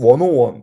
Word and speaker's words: 101: 계속해서 프레젠테이션이나 이런 부분에서는 계속 원오원 이렇게 발음을 하거든요 101을 얘기를 할 때 101